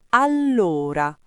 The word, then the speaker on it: allora: Allora, con la doppia L marcata, la O aperta e l'accento sulla prima sillaba.